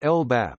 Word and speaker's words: LBAP: United Kingdom, a local Biodiversity Action Plan (LBAP), pronounced LBAP, is a plan aimed at conserving the fauna,